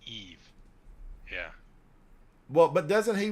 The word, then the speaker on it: Eve: It's not Eva. It's Eve.